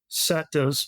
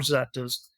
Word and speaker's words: Zetas: really familiar with the Zetas cartel or it's oftentimes pronounced setas or Zetas just I just briefly